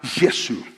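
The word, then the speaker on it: یسوع: Y se pronuncia la palabra Yesu.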